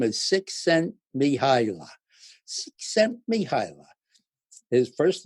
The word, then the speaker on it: Csikszentmihalyi: name no one in the whole world can pronounce, but his name is Csikszentmihalyi.